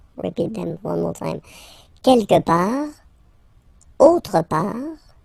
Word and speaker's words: quelque part: Quelque part, don't pronounce the final T, quelque part, quelque part.